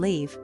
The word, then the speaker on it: leave: Live, with the short, I, is the verb we use to talk about where someone resides. For example, I live in Spain. Leave, on the other hand, with the long, I, means to depart from somewhere.